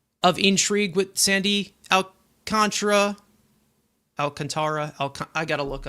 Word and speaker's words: Alcantara: Alcantara Alcant I got to look up Rober.